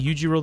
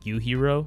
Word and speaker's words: Yujiro: I've been saying Yujiro this whole time, but it's actually pronounced Yuhiro.